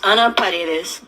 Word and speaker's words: Anna Paredes: So my name is pronounced Anna. The full name is Anna Paredes.